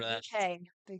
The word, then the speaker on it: Bucket: Bouquet. Oh. Oh, yeah. She insists it's pronounced bouquet according to the back of the box.